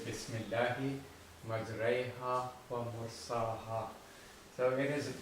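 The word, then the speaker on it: مجريها: Majraiha. Majraiha. So you are not saying majraha. You will twist your voice in pronouncing the alif and incline the alif towards the letter ya.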